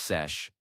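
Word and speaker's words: seiche: There's also something called a sich, pronounced sesh.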